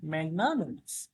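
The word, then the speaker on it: magnanimous: আসলে ম্যাগনা নো এন আই নি হইলেও এটার উচ্চারণ হয় নোমাস হ্যা ম্যাগনানোমাস আচ্ছা এই ম্যাগনানোমাস অর্থ হচ্ছে উদার বা মহানুভাব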